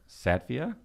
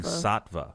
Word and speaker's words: Saatva: of this mattress right how would you pronounce s-a-a-t satvia well there's no i oh i'm thinking saatva saatva oh that's the